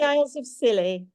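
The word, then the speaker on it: Isles of Scilly: of and M and how do you say that Miriam it's the Isles of silly no the is of silly I have to go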